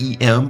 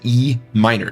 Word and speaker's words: E minor: Please do not ever call that E M or M. That is E minor is how you say that chord.